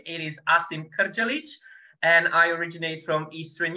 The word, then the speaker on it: Asim Krdzalic: I'm sure you were all wondering how to pronounce my name it is Asim karchalic and I originate from Eastern Europe but has